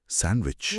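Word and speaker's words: sandwich: और सैंडविच में D silent होता है। एस ए एन डी डब्ल्यू वाई सी एच पर बोलते हैं सैंडविच।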